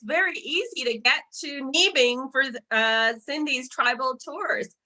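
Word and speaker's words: Niibing: c a so again it's pronounced knee bin but it's pre it's spelled n-i-i-b-i-n-g and then uh yeah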